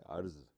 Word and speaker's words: عرض: جی ہاں، آج کا جو لفظ ہے وہ ہے عرض، جو کہ عین سے لکھا جاتا ہے اور رے اور ذوات رے پہ سکون ہوتا ہے.